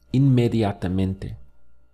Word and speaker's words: inmediatamente: The word for immediately contains about 7 syllables in Spanish. The sound is inmediatamente.